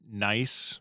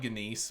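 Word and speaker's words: gneiss: I thought that your was an profile looks really nice. Yeah, it looks like nice. The GNEIS. Or I always called it Genis, but yeah, it's nice.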